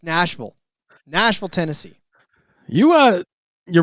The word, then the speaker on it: Nashville: So, uh I I did pick up on the vernacular out there and how to pronounce it's not Nashville, it's Nashville.